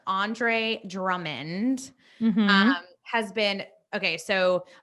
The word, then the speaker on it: Drummond: Okay, so Andre Drummond, I always mispronounce his name. I always want to call him Drummer. Andre Drummond Mm-hmm.